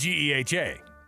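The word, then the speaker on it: GEHA: Oh, it's G Ha.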